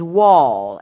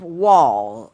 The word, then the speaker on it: Wohl: Last name is Wall, and the way he spells his last name is Wohl. Jacob Wall, Wohl.